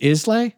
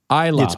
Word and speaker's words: Islay: Islay? Yeah, well, Isla. Isla. It looks like Islay, but it's pronounced Isla.